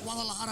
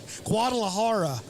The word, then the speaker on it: Guadalajara: that dude dang we don't say it like that where I'm from we say Guadalajara Guadalajara Guadalajara you gotta you gotta go horror horror yeah don't say it